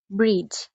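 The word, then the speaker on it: bridge: তো প্রথমেই কোন শব্দের ভিতর যদি ডি এর পর জি থাকে সে ক্ষেত্রে ডি সাইলেন্ট থাকে অর্থাৎ ডি উচ্চারিত হয় না। যেমন ব্রিজ এখানে কিন্তু বি আর আই এর পরেই ডি এবং জি একত্রে আছে।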